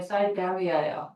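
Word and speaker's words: Siberia: 자, 그다음에 어, 시베리할까리까 영어 발음이 빨리 찍어 봐. 형아야 뭘까? 시베리아일까? 사이베리아까? 네. 사이베리아예요. 미국 놈들은 사이베리아라고 해요.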